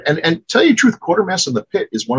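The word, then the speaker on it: Quatermass: And the third one, I never know if I'm pronouncing it right or not. Quartermass. Quartermass. It's Quartermass.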